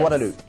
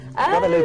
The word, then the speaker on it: Guadeloupe: How do you pronounce this? Guadeloupe. Guadeloupe is one of the French islands they have here in this part of the world.